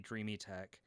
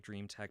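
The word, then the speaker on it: Dreame: high zero and the dreamy tech um and i know that it sounds like it looks like dream tech but they actually they told me to pronounce it dreamy tech um but i can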